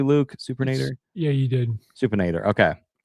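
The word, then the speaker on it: supinator: Did I pronounce that correctly, Luke? Supernator?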